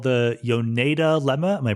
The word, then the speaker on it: Yoneda lemma: you bring up um this thing called the yoneda lemma am i pronouncing it correctly yes exactly and it's very